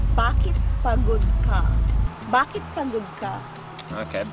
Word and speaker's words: pagod: So it's like P-A-H kind of G-O-D or something. P-A-G-O-D. P-A-G. Pa, but you go like pa.